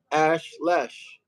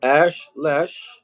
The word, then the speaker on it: Ash Lesh: Then they give us the biblical Hebrew pictographs, and here's the biblical Hebrew pronunciation: Ash Lesh. There's no e sound. Okay, Ash Lesh, which means the flaming star.